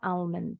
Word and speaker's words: almond: tergantung wilayahnya jadi rupanya orang Inggris ada juga yang bunyiin l nya untuk ternyata kacang ini ya bacanya elemen umumnya Emen tapi ada juga yang bilang almond tapi kalau orang Amerika l-nya selalu silent bilangnya yang bunyi a